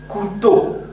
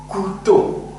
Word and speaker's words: couteau: Couteau. Couteau. O ve U. Yan yana gelirse U diye telaffuz ediyor arkadaşlar. O yüzden burada ne diyoruz? Couteau.